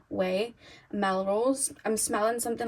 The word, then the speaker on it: Ouai: The perfume I'm thinking of in my mind, if you ever smell, I think they pronounce it Way, it's like Ouai, Way, Melrose.